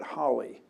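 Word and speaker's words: Halley: used to be called Haley's Comet but they met some they found people they people from the Holly family stepped forward and said we pronounce it Holly not Haley but I don't know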